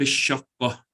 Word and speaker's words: الشقة: You don't pronounce the lam, so you say في الشقة.